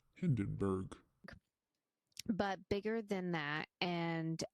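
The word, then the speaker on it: Hindenburg: like the picture of the hien it's actually pronounced Hindenberg but bigger than that and as close if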